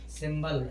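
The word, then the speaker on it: symbol: सिंबल, सिंबल माने क्या होता है, प्रतीक या चिन्ह, यहाँ भी बी के पहले एम है, लेकिन यहाँ पर बी का उच्चारण हो रहा है क्योंकि ये अपवाद है।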